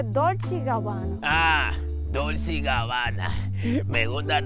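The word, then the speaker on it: Dolce & Gabbana: dulce guayaba Oye ahora no se dice dulce de Guayaba se dice dolch gabana Ah dulce gabana me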